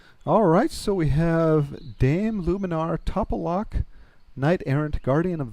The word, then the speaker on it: Lumenar: All right, so we're back with Luminar, and am I pronouncing that corrected? Is it Luminar?